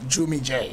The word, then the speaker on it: Jvmmie Jae: Have I pronounced it right? Jvmmie J.